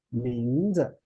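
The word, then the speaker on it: 名字: But when 字 placed together with another character 名, then the second one change into neutral tone. So this word, we will pronounce like 名字.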